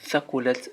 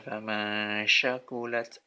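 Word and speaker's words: ثقلت: Jangan tertukar, jangan keliru membaca ini seperti famasya ya, famasyakulat atau famasakulat. Jangan tertukar seperti kalau di dalam ejaan Latin itu sy, sya, atau s biasa tipis. Itu keliru. Yang betul adalah kalau penulisan Latinnya itu t dan s ya, fa.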